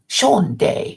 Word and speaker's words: shanda: The registry's a shanda. I'm not sure what that is. I'm going to look it up. What does shanda mean? Shonday. Shonday, it's pronounced.